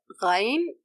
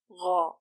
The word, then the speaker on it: غ: The sound flows due to the weak dependency on the articulation place. If the sound is too short and cuts immediately, then you are probably sticking the root of the tongue to the soft palate. So make sure to approach it and leave a gap for the sound to flow. The sound is directed to the roof of the mouth.